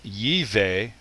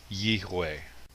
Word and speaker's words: Yahweh: It's possible that the V sound may have come from a Germanic European influence. So rather than Yiveh, it would be Yihweh.